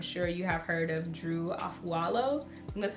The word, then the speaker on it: Drew Afualo: on TikTok, I'm sure you have heard of Drew Afualo.